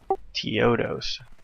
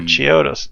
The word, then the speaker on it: Chiodos: Teodos. How do you spell it? Chio. Oh, Chiodos.